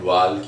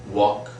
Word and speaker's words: walk: People speak, some people speak talk and walk, and even people try to pronounce that L as well, talk and walk, even some people do that, but that is absolutely wrong, utterly wrong. The correct is walk, talk, was, right?